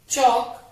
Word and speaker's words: chalk: Options are हाफ, चौक, are, watch. बच्चों दित्तियां हुई ऑप्शंस विच जिन्ने वर्ड्स दिते हैं सारे ही साइलेंट लेटर वर्ड्स हैं। हाफ विच एल साइलेंट है, चौक विच भी एल साइलेंट है, आर विच एच साइलेंट